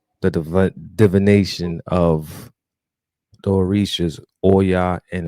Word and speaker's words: Oya: So tonight episode, we'll be learning more about the mysteries, the understanding, the spiritual, the divination of the Orishas, Oya and Oshun.